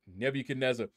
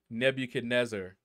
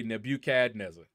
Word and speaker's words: Nebuchadnezzar: young you know and she would never pronounce Nebuchadnezzar correctly she would always say nebuchadnezzle and it would just